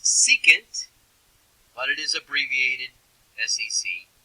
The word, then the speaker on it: secant: It's pronounced secant, but it is abbreviated SEC for Southeastern Conference.